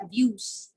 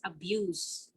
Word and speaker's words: abuse: abuse like for like when you say child abuse that's pronounced with s but when we use abuse as an action word as a verb it's abuse because it's in between